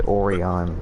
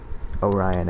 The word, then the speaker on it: Orion: dog of war Orion I say oron so excuse me Orion I guess is the proper way to say it though I like this